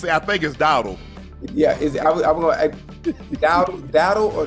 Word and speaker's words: Dowdle: How you say it the right way, Dardell. Hey, people say Dardell, but I think it's Dowdle.